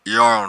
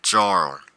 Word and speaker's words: Jarl: That should be Jarl Sven, but I guess people who didn't know how to pronounce it would probably mispronounce it as Jarl.